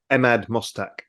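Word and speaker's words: Emad Mostaque: efficiency to um please remind me how to pronounce the gentleman's name that runs stable diffusion I keep forgetting Ahmad mustak Ahmed okay so as emad is saying is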